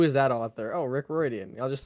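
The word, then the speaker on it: Riordan: that author oh Rick reian I'll just say his name it was in fact that author Rick it's pronounced differently right it's pronounced someone somewhat silly rean all right I've I've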